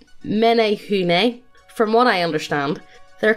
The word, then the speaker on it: Menehune: first one is the menehune minho well kind of pronounced like menehune from what i understand